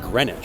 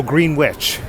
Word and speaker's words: Greenwich: chance to redeem themselves from Pizza apparently it's pronounced grenwich no green witch it's the alphaba re it's the alphaba region